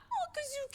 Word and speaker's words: Kuzuki: I knew you were the most intense person Kazuki, I've ever Kuzuki. met. Oh, I guess I had his name wrong either way.